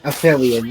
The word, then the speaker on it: Aphelion: I think Ratchet pronounced it as Aphelion, but... Aphelion, yeah, there we go.